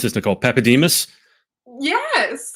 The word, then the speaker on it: Papadimas: Now, how do I pronounce this? Nicole Papademus.